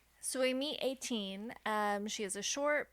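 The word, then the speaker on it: Etain: Attain. It's It's spelled E T A I N. Okay. But I you pronounce it 18.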